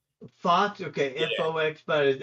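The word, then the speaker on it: Fuchs: fuch right back in at Fox it's actually pronounced Fox Fox Okay FX but F you okay so kid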